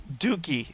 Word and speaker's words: dookie: all I'm saying doie dookie it's double O so it's a long o dooky dookie they can